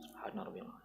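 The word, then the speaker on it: سبحان ربي العظيم: Bukan subhanabbiyalim subbabim bukan begitu. Subhana rabbiyalim.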